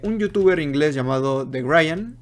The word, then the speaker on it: Grian: He de decir que el diseño en el que me basé es de un youtuber inglés llamado The Grian. Creo que es The Grian. Así se pronuncia.